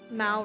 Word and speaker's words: Mal: Mal rhymes with pal and tar.